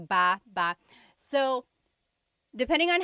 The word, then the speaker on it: baba: Emphasis is on the second syllable syllable.